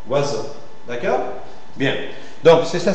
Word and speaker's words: oiseau: comme ça moi d'accord le cas de oiseau c'est une seule syllabe donc je ferai là il y a beaucoup de lettres 1 2 3 4 5 6 lettres en français c'est terrible par contre il y a 4 son oiseau oiseau d'accord bien donc